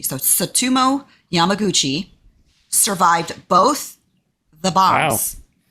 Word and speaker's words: Tsutomu: I think his name is pronounced Tsutomu Yamaguchi, like Christy Yamaguchi. So Tsutomu Yamaguchi survived both the